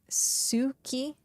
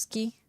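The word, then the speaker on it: つき: Like I used to say Suki for moon, but it's just ski. You try to like put the T as like part of the S.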